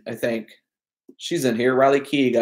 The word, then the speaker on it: Riley Keough: All in all, Riley Keough, I think she's in here. Riley Keough, I believe, is how you pronounce her name.